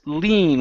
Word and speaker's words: lean: this word right here is pronounced lean with a long e she will lean her